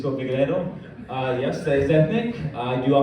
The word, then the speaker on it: Figeredo: Your guess is as good as mine on my pronunciation of my name. So to get it right for the first time, my name is Figeredo.